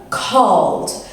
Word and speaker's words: called: So the first one we've got is l, called. So if you keep your hand on your throat, you can feel it, called. So I called the doctors. So you pronounce it with a D sound.